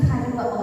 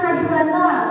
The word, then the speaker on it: H2O: Jadi bukan H20, dibacanya H2O. Ya, diingat ya, H2O.